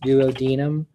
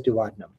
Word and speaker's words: duodenum: it starts with the duodenum which is probably more accurately pronounced duodenum but everybody says duodenum and then there's the